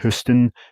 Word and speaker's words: HSTN: Essentially what these are, these Oakley Meta HSTN glasses, which I'm told are pronounced like Hust glasses, are a pro version of the Rayban Meta glasses with a slightly different design.